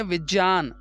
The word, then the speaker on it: विज्ञान: फिर विज्ञान ही लिखो, लेकिन उसका जो सही उसका उच्चारण है वो है विज्ञान, तो हम विज्ञान ही लिखें। और विज्ञान लिखते समय आधा गा आता ही नहीं है और गा उसमें है ही नहीं।